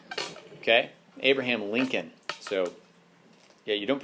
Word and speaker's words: Lincoln: spelling right here because there's a silent L in there yeah Lincoln okay Abraham Lincoln so yeah you don't